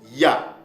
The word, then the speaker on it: Hayah: Ce n'est pas aya, mais ça se prononce ya.